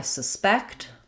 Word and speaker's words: suspect: I suspect the dog did it. Suspect. The suspect was taken for questioning. Suspect. So, noun, first syllable stress, verb, second syllable stress.